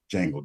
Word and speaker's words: Django: those demons back like Django did when he got his hands on that whip. The D is silent.